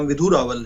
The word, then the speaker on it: विधु रावल: लावनी जी, आपने मेरा नाम गलत प्रोनाउंस किया था, मेरा नाम विधु रावल है।